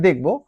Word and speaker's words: the: সো আমরা যখন কোন ওয়ার্ড ফাইন্ড আউট করবো বা ওয়ার্ড দেখবো আমরা দেখব যে ওয়ার্ডের শুরুটা হয়েছে কি?